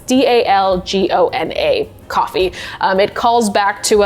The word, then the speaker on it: Dalgona: And to this day, I butcher the name of this, and so it's DALGONA coffee.